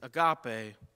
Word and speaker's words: agape: our scripture reading and that word is agape or ego depending on how you want to pronounce it and primarily in our